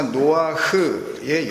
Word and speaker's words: 노아흐: 하나님께서 일부러 해석을 달아 주신 유일한 이름이기도 하니까요.이 노아는 히브리어 명사 노아흐의 영어식 발음입니다.